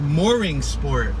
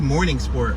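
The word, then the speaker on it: Mooringsport: Now, Morning Sport is spelled M-O-O-R. Oh, I'm sorry, Mooring Sport. I said Morning Sport. I do apologize. Mooring Sport. M-O-R-R-I-N-G-S-P-O-R-T. Mooring Sport. It looked like Morning Sport when I first turned through here.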